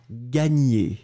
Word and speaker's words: gagner: Le A, vous remarquez qu'il est quand même relativement différent. On va juste prendre le temps. Donc moi, je le prononce A, ga, ga, ga, gagner, d'accord ?